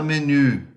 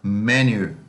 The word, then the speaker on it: menu: a quem fala inglês não fala menir fala meher meher meher e traz a acentuação primeira sílaba e nós chamamos de